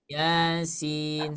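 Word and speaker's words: يس: dua harakat ya Maka jangan sampai dibaca Yasin Yin enggak enak lagi y Heeh Sering enggak mendengar bacanya Yasin gitu suka ada sih enggak sering suka ada kan Nah seperti itu Nanti ke depannya karena kita sudah belajar di sobat ngaji bacanya dua harakat saja jadi jangan Bismillahirrahmanirrahim Yin nah jangan ya jangan dibaca panjang tapi dibaca Dua harakat saja Yasin seperti itu Coba ikuti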